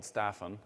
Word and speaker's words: Staffan: agile ux it's called i am called staphon like a big staff and my name is